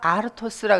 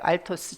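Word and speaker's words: ἄρτος: 그런데 떡이 아니고 이 단어는 아르토스라 그래서 이것을 발음을 그대로 하면 알토스예요. 알토스. 천천히 발음하면 아르토스. 빨리 발음하면 그대로 알토스.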